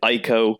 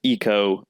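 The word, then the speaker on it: Ico: sister games so yeah Eco it looks like ieko but apparently it's actually pronounced Eco it oh upsets me too and then GI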